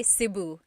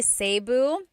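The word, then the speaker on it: Cebu: it seu or SIU so technically in theal Al ET the letter e can be pronounced e or E like the letter I so I say siuu and I know some people say seu but usually it's either SIU or sebu good question all right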